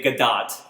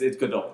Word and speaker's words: Gadot: Is it Gadot? I thought it was pronounced Gadot. That's how it's spelled, but Godot it's Hebrew. Are you sure? Yes, 100. That's 100%. Because I've heard people say both, and I don't know. That's because the white people say Gadot and just like read by her name.